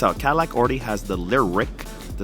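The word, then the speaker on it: Lyriq: Cadillac already has the Lyric, the Celestiq, that's spelled L-Y-R-I-Q and C-E-L-E-S-T-I-Q.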